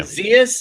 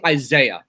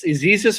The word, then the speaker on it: Isaias: How are they pronouncing this hurricane coming up the coast? No idea. Isaias? Is that how they pronounce it? I see Isaiah, but that's not how it's pronounced. It's That's like not how it works. That's not what it Isaias or something like that.